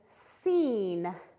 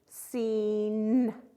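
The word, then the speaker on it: scene: This word is seen. The SC is a blend. We can hear the E, seen, and then the E on the end is silent.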